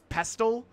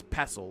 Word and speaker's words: pestle: I've heard people pronounce this as pestal. I'm pretty sure it's pestle like the T is silent, right?